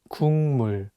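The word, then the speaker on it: 국물: korean word for soup the consonant kyo is for g sound in english so you can read it as cook but it's paired with the natural sound mium so it changes the pronunciation from a g sound to an ng sound and you need to read it as kung mu just remember that if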